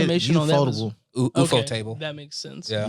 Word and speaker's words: Ufotable: UFO okay, table. That makes sense. Yeah. Ufotable.